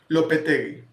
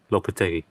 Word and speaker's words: Lopetegui: Lopetegui. Lopetegui.